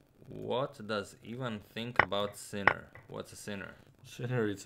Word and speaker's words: Sinner: Germany no like Zena no okay he's actually pronounced sinner oh uh oh what happened uh well it's